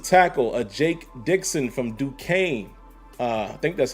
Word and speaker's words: Duquesne: remember how this school is pronounced i'm gonna spell it d u q u again d-u-q-u-e-s-n-e and i'm openly admitting to you guys